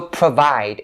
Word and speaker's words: provide: So provide, it ends with the D sound.